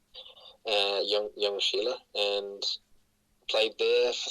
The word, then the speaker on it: Ljungskile: And that team was Ljungskile, which is spelled Ljung. That you say it like young, Ljungskile, and played there for